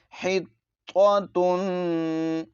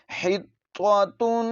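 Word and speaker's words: حطة: پڑھ لیا جاتا ہے۔ تو پہلے جو ہے تو ہے اس کو موٹا کر کے پڑھنا ہے اور گول تا کو باریک پڑھنا ہے۔ تو پہلے ہم اس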